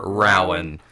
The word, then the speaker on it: Rowan: Yep, Rowan.